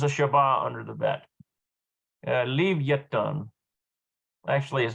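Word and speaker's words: לויתן: Leviathan. Actually is how you pronounce that in Hebrew.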